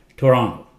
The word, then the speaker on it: Toronto: live in Russ Russia Toronto Tonto nice city in Canada K Canada okay Toronto people who live in Toronto they call it Toronto this T is not very clear Toronto okay Brazil not Brazil